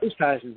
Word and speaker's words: Oosthuizen: I'm not sure how to pronounce that. Oosthuizen, yeah.